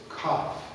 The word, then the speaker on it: cough: Cough. E vai terminar aí.